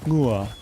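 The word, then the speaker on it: ngựa: So when this horse, gone, ngua is how you say it in Vietnamese, horse.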